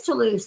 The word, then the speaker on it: Toulouse: It is Toulouse.